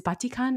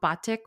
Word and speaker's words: batik: the other indonesian words my guess is that they mostly use short vowels like they do in tagalog i think it's the same in spanish too so you have your your ah e o and u instead of a e i o and u so batik would be batik and not batik i'm definitely not an